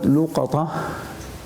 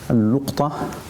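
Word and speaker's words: اللقطة: The word luqata and also could be pronounced as al-luqta or luqata.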